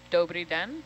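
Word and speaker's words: Dobrý den: Dobri den.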